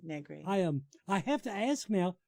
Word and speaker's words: Negri: That's it, Negri. Okay, rhymes cool. with nothing. Rhymes with my whole life. I was born in Negri. It rhymes the word nothing. Vaguely. Rhymes with vaguely, Negri.